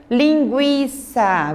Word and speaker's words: linguiça: Linguiça, você não pronuncia o I. Desculpa, não pronuncia o U.